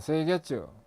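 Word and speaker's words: 清潔: OS라는 것은 정리정돈 청소 정결 습관인데, 일본어로 발음을 하면 정리는 세이리, 정돈은 세이돈, 청소는 세이소, 청결은 세이게츠, 습관어는 시쯔게, 시쯔게 이렇게 읽습니다. 그래서 OS입니다.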